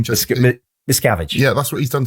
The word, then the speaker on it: Miscavige: Well, that's what David McChavis, how'd you say his name? Miscavige.